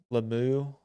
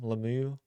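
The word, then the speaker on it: Lomu: So my second potential first round pick for them, which makes a lot of sense, is Caleb Lemieux. I think is how you say his name, Lemieux.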